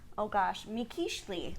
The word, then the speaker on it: Mikiztli: on to talk about, MIKIZTLI.